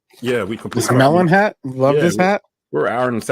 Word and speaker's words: Melin: So shout out to Melon.